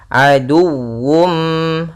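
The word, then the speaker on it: عدو: harus jelas kemudian aduwum Nah di sini harus dibaca juga dengan sempurna wwnya dengan tasydid aduwum aduwum Kemudian pada hafal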